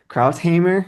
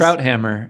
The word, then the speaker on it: Krauthammer: thing, that was Charles, I never can pronounce his name, Krautheimer. Remember him? Oh yeah, He was Charles always, Krauthammer.